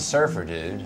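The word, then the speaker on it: Surfer, Dude: that's a great question not surfer dude like a guy no you gave it the comma yeah cuz the comma has to have a purpose respect the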